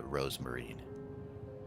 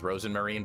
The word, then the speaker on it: Rosenmarine: This is where it happened to Rosemarine. By the way, her name is Rosenmarine, but Elise always gets her name wrong.